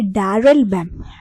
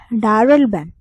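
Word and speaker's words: Daryl Bem: डैरल बैम। डैरल बैम। डैरल बैम की spelling है DARYL, डैरल एंड बेम, BEM, बेम।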